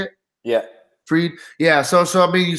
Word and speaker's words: Fried: Fried.